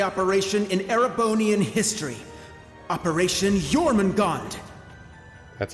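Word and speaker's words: Jormungandr: the greatest military operation in erebonian history operation jormungand that's how it's pronounced i thought it was called john magar what do i know and cedric remember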